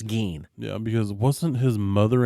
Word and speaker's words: Gein: say his name because I had thought it was one of those things like EIN spelled Ain. Right. Like Gein, but no, it's Gein.